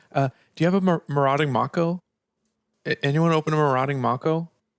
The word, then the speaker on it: Mako: It is actually Mako. It's definitely Mako, my friend. My whole life, I never realized that a shark could have a long A in it.